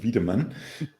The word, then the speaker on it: Wiedemann: Uh so when you pronounce it in German way I'm and I'm vman. Uh but you might go with the English version of or something. Uh that's fine.